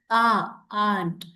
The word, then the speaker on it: aunt: Even though you have A and U here, A and U together is pronounced as aunt.